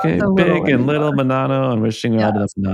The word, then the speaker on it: Menanno: I am pronouncing that correctly, like Menanno? Yes.